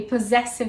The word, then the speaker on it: possessive: the word kiss and you can pronounce it as a zed such as in the word possessive actually possessive has both sounds when i see a